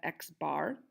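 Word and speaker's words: x̄: X with aligned on top of it we pronounce that X bar an X bar is just equal to the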